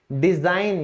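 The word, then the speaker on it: design: फिर है बनावट, डिजाइन, यहां भी जी साइलेंट है।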